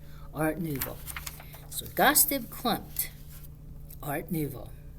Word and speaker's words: art nouveau: spelling it out but remember how to say it new vo like a moo like a cow but art nouveau so gossip clumped art